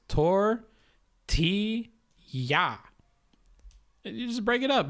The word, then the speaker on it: tortilla: So you just break it up by its syllables. Tor, ti, ya.